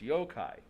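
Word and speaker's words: yokai: a little while there yoai is how it's pronounced yo-kai okay uh yeah some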